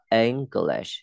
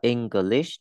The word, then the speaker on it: English: Chỗ này đọc là English. Chứ không đọc là English nhé. Phải có chữ G ở giữa và chữ I chuyển thành chữ E. English.